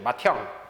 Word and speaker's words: 맏형: 디귿하고 히읗이 축약이 돼서 티읕으로 축약되죠. 맏형.